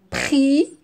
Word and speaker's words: prix: est muette noah voilà la lettre x est muette prix aussi mais ici qu'est ce